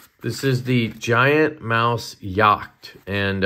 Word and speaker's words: Jagt: is the giant mouse yach and I'm German so I know that that J is silent yed and that means hunted